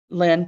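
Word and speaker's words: Wleń: So it's spelled differently, pronounced the same.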